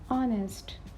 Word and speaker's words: honest: m m stopping point now see H is silent in these words honest not honest we will